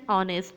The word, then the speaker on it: honest: Before a word beginning with H which is not pronounced and therefore beginning sound is a vowel sound. For example, an hour late, an honest man, an heir, an honorary doctor.